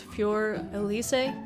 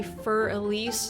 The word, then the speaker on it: Für Elise: and it looks like the german way of pronouncing it is fjor elysee i know here in america we say fur elise at least that's the way i've heard it